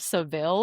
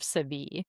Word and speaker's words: Seville: I also don't know if to pronounce it as like the Barber of Seville or the Barber of Sevi. Well, I think the city is called Sevilla in Spain. So maybe if it's spelled like with the e, it's civil.